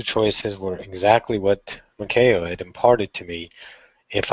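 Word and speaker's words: Maiko: And Makeo, M-A-I-K-O, made me spell it 3 times. Makeo. There's no A in it. It's just K. Makeo.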